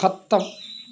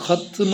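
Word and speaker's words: ختم: കരുതിയിട്ട് കുറെ അറിയാത്തതുകൊണ്ട് വ്യാപകമായിട്ട് ഒന്ന് ഹത്തം ഖത്തം ദുആ ഹത്തം ദുആ എന്നൊക്കെ പറയും ഹത്തുമുൽ ഖുർആൻ ഖുർആൻ ഹത്മ് ചെയ്യുക ഹാ താഹ് ഇമ് മീം താന് സുക്കൂന് ഹത്മ് എന്നാണ് പറയേണ്ടത് ഖത്തം ഖത്തം എന്ന ആളുകൾ അത് വ്യാപകമായിട്ട് ഉപയോഗിക്കുന്ന ഒരു പദമാണ് വേറൊന്ന് പിന്നെ ചെറിയ കുട്ടി ഉണ്ടാകുമ്പോൾ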